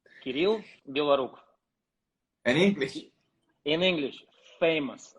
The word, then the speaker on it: Kirill Belorukov: How do you pronounce your name in Russian completely correct, and how do you want to pronounce it in English? In Russian, Kirill Belorukov. Kirill Belorukov.